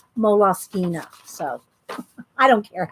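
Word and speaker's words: Moleskine: time people are going how do you say mall skins I'm all skin mole sky well I went to the moles mole off skeena site and that's how they say mola skeena so I don't care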